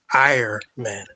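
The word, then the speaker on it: Ahriman: This is a Persian deity that was the personification in German. That's how you would pronounce his name, Ironman.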